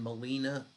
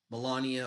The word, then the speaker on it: Melania: validators made over $25 million in Trump and Molina Melania meme coins I keep saying her name wrong for some reason um um ethereum core